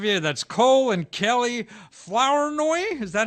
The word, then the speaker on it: Flournoy: That's Cole and Kelly Flournoy. Is that how you pronounce it? Flournoy.